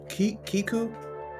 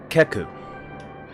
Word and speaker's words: Keku: Kiku. Uh, Keku, but it's commonly mispronounced.